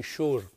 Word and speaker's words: Shure: and now we're moving on to this s-h-u-r-e sure mv-88 plus video kit and i have to